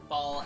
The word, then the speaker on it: Ball: Oh no, it's John and then Ball as in I rolled a ball.